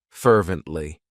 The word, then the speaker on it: fervently: It has three syllables and the stress is on that first syllable. Fervently.